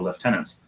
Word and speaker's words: lieutenant: to some soldiers so left tenants in Canada they're called Left tenants but because he's not Canadian he wanted it to pronounce Lieutenant so there are sometimes